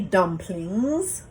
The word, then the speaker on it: dumpling: not of Caribbean descent, we don't say dumplings, we say dumpling. We leave off the G. When we are in more Eurocentric environments, we will put the G back on.